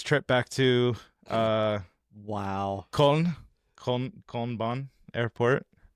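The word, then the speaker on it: Köln: I'm like, "Do you guys say Cologne?" He's like, "No, it's Colon." And I'm like, "Colon?" Yeah, that's it's K O with Omla L. That's how you spell it in German.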